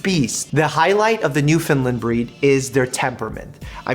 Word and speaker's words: Newfoundland: A Newfie is a Newfoundland. And I know it sounds like I'm saying New Finland, but I'm saying Newfoundland in a way that it's properly pronounced.